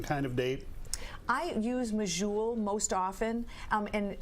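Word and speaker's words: Medjool: satisfying any certain kind of date I use majul most often um and it's spelled m-e-d-j-o-o-l and I like them because they're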